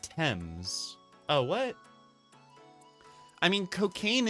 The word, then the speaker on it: Thames: It's actually pronounced Thames.